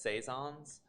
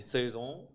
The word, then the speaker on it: saison: what would say here in america they say it's saisons but i think in europe it should be suzung is it french well